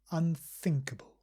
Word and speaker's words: unthinkable: unthinkable unfavorable and also remember unthinkable we pronounce think with a sound so we gently put the tongue between the teeth think unthinkable more on this sound